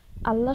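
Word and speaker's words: الله: পদ্ধতি আছে প্রথমটি হলো আল্লাহ শব্দের লাম হরফের পূর্বে জবর জের বা পেশ থাকলে উক্ত লাম হরফকে পড়ে করে অর্থাৎ মোটা স্বরে পড়তে হবে আর দ্বিতীয় পদ্ধতিটি হলো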